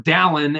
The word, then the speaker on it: Dallin: And I remember asking, is it Dalen or Dallin? And his response was, it rhymes with gallon.